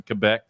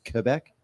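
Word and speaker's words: Québec: Quebec Quebec Quebec yeah there's an accent on the E which makes it become an a sound a a that's what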